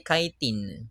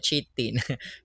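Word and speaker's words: chitin: Ang ka-pronounce po ay kitin. Kitin hindi po siya cheatin.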